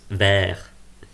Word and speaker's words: verre: And in French it's pronounced verre.